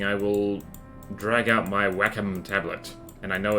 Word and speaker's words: Wacom: I will drag out my Wacom tablet. And I know it's pronounced Wacom.